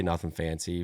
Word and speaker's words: Nuthin Fancy: I'm like, but yeah, I just say Nuthin Fancy, but obviously it's spelled different.